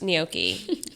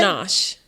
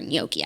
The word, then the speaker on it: gnocchi: Hannah G doesn't know how to pronounce gnocchi. Oh my God, I saw that. How did she pronounce it? Ganache. Come again? Ganache. She said the G? She said, not just the G, she said shh.